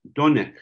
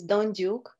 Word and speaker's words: Dondyuk: uh Laurel core and tonight we have Maxim donek uh he sorry sorry uh Anika you know